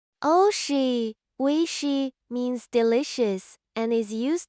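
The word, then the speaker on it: おいしい: Oshi means delicious and is used to express that food tastes good. It can also describe something appealing or pleasant beyond just food. Pronounce it oishi and use it when enjoying Japanese cuisine.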